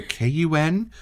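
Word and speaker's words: Cayuen: There was a unanimous cry for me to go over to the KUN. It's spelled C-A-Y-U-E-N while it's here on the screen.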